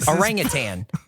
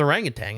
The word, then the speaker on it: orangutan: orang tan oring Tang orangan is how you spell it orangutan orang Tang you me up